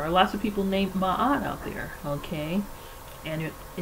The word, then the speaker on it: Maat: So Maat, pronounced Maat, corresponds to the faculty within man wherein is